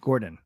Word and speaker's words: Djurgården: Jay says the garden in Djurgården is pronounced Gordon.